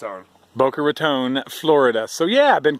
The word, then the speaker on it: Boca Raton: definitely the outside of all right outsider is Boca Raton how do you say it Booker it's our Boca Raton Florida so yeah I've been cool hanging out